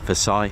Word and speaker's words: Versailles: treaty of Versailles um probably pronouncing that wrong but I was I was call it Vay Versail Vay but you know things